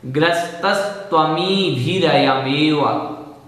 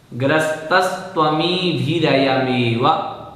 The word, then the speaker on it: ग्रस्तस्त्वमीभिरयमेव: ग्रस्तस्त्वमीभिरयमेव इस प्रकार से बोलना है। ग्रस्तस्त्वमीभिरयमेव पूर्ण पद, ग्रस्तस्त्वमीभिरयमेव इस प्रकार से बोलेंगे तो हमारा उच्चारण शुद्ध हो जाएगा।